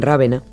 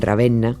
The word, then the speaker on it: Ravenna: simpática Dante sí Dante murió en rávena o en ravenna para que no me regañe nadie por la pronunciación murió en murió en